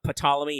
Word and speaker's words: Ptolemy: It is not Ptolemy, it is Ptolemy. You can say Ptolemy as a joke, or Ptolemy as a joke there. See, I said it correctly the right way around. But no, the P is silent if you're curious.